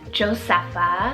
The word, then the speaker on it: Josepha: really fun and it means pledge to God josepha spelled j-o-s-e-p-h-a josepha doing that nickname of Josie super cute